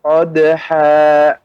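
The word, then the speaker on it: قَدْحًا: Fal muriyati qadha. Ya, Bapak, pengucapannya ha tidak ada berhenti, seperti ada jeda. Qadha, akan tapi mengalir. Qadha dengan qadha. Nah, maka itu ada seperti kita berhentikan dengan dipaksa.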